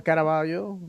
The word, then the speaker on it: Caraballo: Um, Gustavo Caraballo, or Caraballo, if you want to say it like you should.